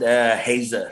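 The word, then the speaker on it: Haezer: Yeah, you pronounce it Hazer.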